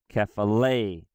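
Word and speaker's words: κεφαλή: Or for the word head here, kephale, it's kephale.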